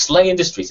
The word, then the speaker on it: SLA Industries: I'm pronouncing that wrong. It's Slay Industries, isn't it? Yes, it's meant to be pronounced.